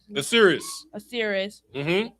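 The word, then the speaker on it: Ahasuerus: So Esther was taken unto King Assyrius. You said it right, nephew. Go ahead. Assyrius.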